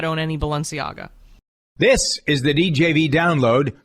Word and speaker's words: Balenciaga: is the new face of how do you pronounce it balanciaga balenciaga yep yeah what is that's a clothing line